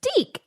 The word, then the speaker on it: DIC: little kid voice going dee. Anyway, maybe it was just so we didn't pronounce it dick.